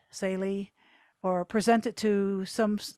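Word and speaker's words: Tsaile: the nay college insalie t-s-a-i-l-e uh that's how to spell it saily or present it to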